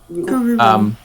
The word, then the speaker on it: Kururu: So it's Kururu. Okay. Kururu. Like accent on the Kururu.